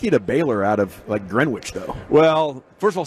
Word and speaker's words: Greenwich: What took you to Baylor out of Greenwich, though? Well, first of all, say it right. It's Greenwich.